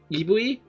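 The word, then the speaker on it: イーブイ: Because apparently in Japan, like, November 21st, written out, could be pronounced like Ibui, which is like how Eevee is said.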